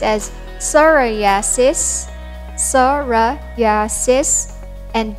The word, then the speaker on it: psoriasis: term are chronic disease with no cure it's pronounced as psoriasis sora yasis and not psoriasis and we hope none of